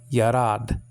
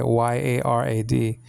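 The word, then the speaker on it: ירד: Anyway, Yarad. But you have a yod and a kametz, and then a resh and a pathach, and then the dalet after that.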